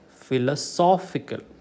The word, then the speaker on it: philosophical: syllable from the last philosophy okay that is correct but philosophical third syllable from the last philosophical morphology on character